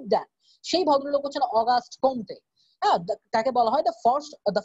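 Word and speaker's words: Comte: সো the father of sociology August কোম্তে, তার নামের উচ্চারণ কিন্তু অগাস্ট কোম্তে নয়, অগাস্ট কোম্ত ফ্রেঞ্চ উচ্চারণে, কিন্তু যেহেতু বাংলাদেশে সাধারণত অগাস্ট কোম্তেই বেশিরভাগ মানুষজন বলে এবং সেটা বুঝতেও সুবিধা, সে কারণে আমি অগাস্ট কোম্তেই বলবো।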